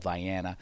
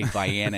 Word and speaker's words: Vienna: I was in there's a town um it's called Vyana. Uh you don't say it's spelled like Vienna but you don't say Vienna. have to say Diana in Maine unless you you